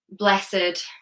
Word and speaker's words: blessed: However, with adjectives, there are some exceptions to the rule. So do watch out for that, for example, naked, blessed, wretched. These do not follow the same rule.